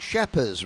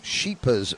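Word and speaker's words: Schepers: Now, people have asked me because it is spelled Sheepers Racing. It is spelled S C H E P. And then says, "Henry, is it not Shepherd's Racing?" But I've asked and it is Sheepers Racing.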